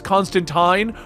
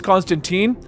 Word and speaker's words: Constantine: accepted to call him Constantine and Constantine. The hardcores know that the original pronunciation is Constantine, but Constantine is what is said generally everywhere else at this point.